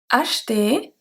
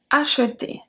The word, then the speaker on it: acheter: There are actually 3 with 2 different pronunciations. I thought we had 2, but we actually have 3 in this list. Sorry, my bad. We have acheter and acheter.